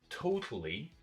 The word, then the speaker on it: totally: Saying is totally, okay, totally, 3 syllables. This rule over here. So stress goes on the first syllable, no stress here, and a little bit stress here. Totally. What happens to the part that gets no stress? It's got a schwa sound.